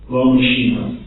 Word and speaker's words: L'Homme Machine: How would you pronounce that in French? L'Homme Machine? L'Homme Machine.